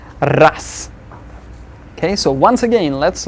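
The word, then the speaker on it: раз: We see raz, since z is there at the end of the word, we'll pronounce it as ras.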